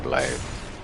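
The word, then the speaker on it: Blaidd: all gaelic language with how blind name is pronounced blade like b-l-y-t-h-e lots of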